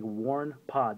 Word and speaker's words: WarnePod: Seth Tweets on Twitter asking how to pronounce that. It's Warne Pod.